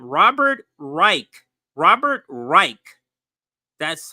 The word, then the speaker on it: Robert Reich: is how you pronounce the name Robert Reich Robert Reich that's how you pronounce his name Robert Reich um then oops